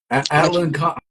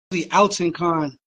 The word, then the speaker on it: Alton Con: Alan Con. How you pronounce it? Well, the shit was it's actually Alton Con, and there was a spell check on the fucking on the track list. So, but Alton Con means like warrior.